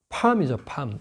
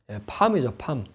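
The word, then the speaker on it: palm: 팜이죠, 팜. 이 L자가 발음이 이렇게 명확하게 안 나서 우리 발음은 좀 어려워서 뭐 팔로 이럴 수 없잖아요, 그죠? 팜이죠, 팜.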